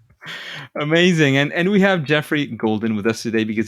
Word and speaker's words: Geoffrey: background and how how that's used absolutely uh Jeffrey is how it's pronounced yeah like uh in let's see in